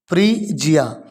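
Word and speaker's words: Phrygia: इसको ब्रेक कर लीजिए आप, थोड़ा टिपिकल है प्रोनाउंसिएशन, इसीलिए फ्रीजिया, यहाँ तक फ्री हो गया, और जिया, फ्रीजिया इज ग्रीस, इज ग्रीस।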